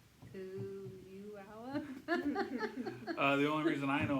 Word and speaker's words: Puyallup: Puyullap? Something like that. Something like that. Puyallup. I Anyway, said Puyallup. That's how I said maybe it was Puyallup. Puyallup. Puyallup. Hey, P. Puyallup.